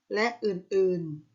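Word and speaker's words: ฯลฯ: ๆ อีก มาก มาย เมื่อ อ่าน ถึง ไป ยัน ใหญ่ ต้อง อ่าน ว่า รัก หรือ และ อื่น ๆ ทวิภาพ ใช้ เขียน หลัง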